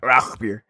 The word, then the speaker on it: Rauchbier: Rauchbier.